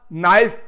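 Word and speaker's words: knife: Teacher ने आपको पढ़ाया, हाँ बेटा नाइफ की स्पेलिंग बताओ। आपने कहा एन है, एन नहीं, पहले के बोलो। क्यों? नाइफ तो बोलते हैं हम, फिर के क्यों लिखे?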